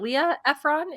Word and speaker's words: Delia Ephron: Delia Ephron is how you say that, and Mikolos Laszlo were the three that were credited on IMDb.